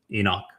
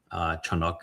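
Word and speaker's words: חנוך: It's not my first existence was as Enoch. Chanuk is the pronunciation of it.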